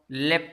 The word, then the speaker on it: leapt: यहाँ आप देखिए बच्चों, लेफ्ट है एक वर्ड है यहाँ, लेफ्ट। इसको हम अगर ऐसे कहाँ वैसे अगर देखा जाए लेफ्ट, तो इसकी जो स्पेलिंग है बच्चों LEAPT, ये सेकंड फॉर्म है।